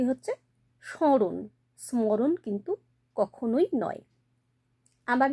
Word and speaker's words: স্মরণ: কারণ nasal tone আসছে এখানে কিন্তু ম টা উচ্চারিত হচ্ছে না তাহলে উচ্চারণ কি হচ্ছে স্মরণ স্মরণ কিন্তু কখনোই নয়